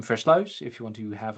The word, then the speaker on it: Versluis: And then some unpronouncable last name. Floouse if you want to have an attempt try to do it.